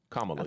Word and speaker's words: Kamala: helped him a lot with that with with kamla who is this man am I saying it again Kamala you said it right kamla is kind of